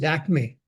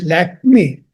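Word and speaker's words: Lakmé: But the French, as they pronounce, they couldn't pronounce the Lakshmi, and they called it Lakme. And that's how the word Lakme, or Lakme, as we call it today, was created.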